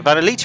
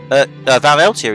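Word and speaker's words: Van Eltia: Now that we have a base, we don't have to worry about maintaining the Vanelita anymore. Vaneltia even anymore. Yes, you do. First off, maintain its pronunciation, because I fucked it up.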